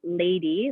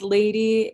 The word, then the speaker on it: LVDY: kathleen cooper who is half of the duo lady local musicians from denver and she is going